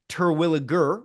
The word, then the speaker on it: Terwilliger: So it is in fact pronounced Terwilliger with a G, hard G.